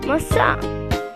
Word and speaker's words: maçã: In Portuguese, apple is maçã. There is a nasal sound. Listen closely. Maçã.